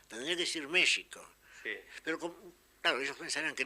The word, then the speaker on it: México: lo curioso es que en México escriben con x pronuncian con j tendría que decir México pero claro ellos pensaran